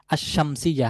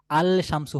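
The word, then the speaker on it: الشمس: হচ্ছে সূর্য শামসুন সূর্য এখন যদি এই শামসুন শব্দের শুরুতে আমরা আলিফ লামটাকে যুক্ত করি তাহলে আলশামসু হওয়ার কথা ছিল আলশামসু আলিফ লাম তারপরশিন মিম সা আলশামসু হওয়ার কথা ছিল কিন্তু এখানে হবে আশশামসু তাহলে লামটা এখানে উচ্চারণে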